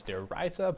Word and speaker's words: Der Riese: I believe, having lived in Germany, I believe that the correct pronunciation is Der Riese, but I'm not gonna get into that.